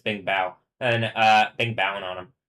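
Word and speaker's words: 冰雹: I was already telling you it's Bing Bao.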